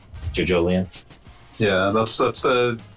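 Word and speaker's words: JoJolion: Yeah, Jojolian. Jojolian. Yeah, that's the pronunciation that was given because it's supposed to be evangelism.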